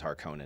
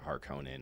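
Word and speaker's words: Harkonnen: think to be fair I think I pronounce it that way because I just think it sounds cooler I just like harkonin over harkinen hearken makes me think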